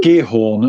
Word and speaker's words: Giethoorn: Giethoorn, apparently that's how you say it.